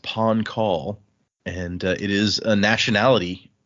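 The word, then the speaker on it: Pahn Kahl: It's uh I believe it's pronounced pawn call and it is a nationality or a nation.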